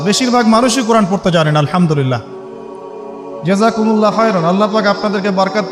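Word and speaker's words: الحمد لله: আপনি পড়ছেন আল্লাহু আকবার আলহামদুলিল্লাহি রাব্বিল আলামিন এইতো আপনি পড়ছেন আলহামদুলিল্লাহ শব্দটা কি আলহামদুলিল্লাহ এই হা এর মাখরাজ কোথায় হা এর মাখরাজ কোথায় বলেন একজন কণ্ঠনালীর মাঝখান থেকে এখান থেকে আপনি উচ্চারণ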